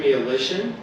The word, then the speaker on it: Mialishin: And under the leadership of our new director, Ben Mialishin, where's Ben? Oh, there he is. So I challenge you guys to spell his last name, but it rhymes with demolition, which is appropriate for safety, right?